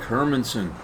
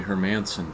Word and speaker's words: Hermansen: Araki I'm Hermansen uh people call me Hermanson but that's not how my name is pronounced I seldom correct anyone